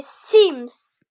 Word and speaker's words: Sims: Voilà, les Sims. Les quoi? Les Sims, ça se prononce Sims.